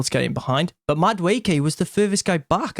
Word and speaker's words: Madueke: the Madueke thing, or what did Paul Merson call him? Mudwookie. Oh, so bad, man. This guy's a paid pundit. Like, just like, I know pronunciations can be hard, but come on, he's been playing for a long time. Madueke is not hard, but anyway, even there.